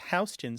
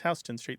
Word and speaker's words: Houston Street: Yeah, the classic one in New York City is Houston Street, and as a Texan, you probably appreciate that.